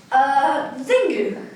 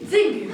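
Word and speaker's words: Xingu: Zingu. Spell it. I don't understand. Your name, spell it. X-I-N-G-U. Zingu.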